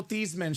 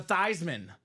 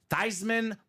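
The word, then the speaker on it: Theismann: says Hey Joe let's change the pronunciation of your name to thyman thyman for the Heisman he didn't get the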